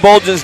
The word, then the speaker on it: Bolgen: Okay, I had to listen to Bolgen's name be pronounced to make sure we were saying it correctly. It is Bolgen.